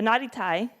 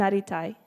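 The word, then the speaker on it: なりたい: the little trick here think of the way you pronounce a soft T or T flap for you linguistics nerds in the word water or subtle nutty nutty type tsuyoku naritai very good like I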